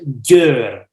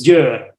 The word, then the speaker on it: Győr: How you pronounce Gior? Is how you pronounce that? It has a special Hungarian letter. It's Győr. Yeah. Too difficult. The first is J, the second Yeah. the second R. So it's Győr.